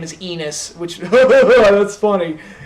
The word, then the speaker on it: Enos: his first name is Enos, which, that's funny. It rhymes with penis, that's funny.